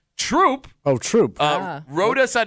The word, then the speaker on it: Throop: Eric writes, as the current town supervisor of, the pronunciation is Troop, I want to say thank you for bringing a little attention to our little town.